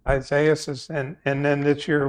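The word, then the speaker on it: Isaias: 2020 with uh um I always pronounce this wrong it's a easy Isaiah says yeah Isaiah says and and then this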